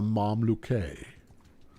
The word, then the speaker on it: Mamluk: Or a Mamluke, as some might pronounce it, if they were that way inclined. They may not be that way inclined, but they may now be inclined, having heard that Mamluke is an approved manner of pronouncing it.